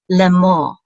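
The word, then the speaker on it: לֵאמֹר: will say lei lei so the serta says air and now we have a member the hollom which is more and in the rush closes the syllable out as more L'Amour and this means to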